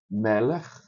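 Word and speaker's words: מלך: Você tem essa daqui que o acento é na penúltima sílaba. Meller, o rei Meller, o acento tá aqui.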